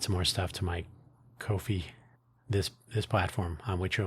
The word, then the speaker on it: Ko-fi: I say Ko-fi because it's not spelled like coffee. It's a unique, unusual spelling.